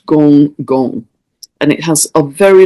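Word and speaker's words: Gonggong: I understand that's pronounced Gong Kun, but it's spelt Gong Gong.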